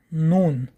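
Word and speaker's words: نون: Следующая буква – это буква Нун. Буква Нун произносят, дотрагиваясь кончиком языка десен верхних резцов.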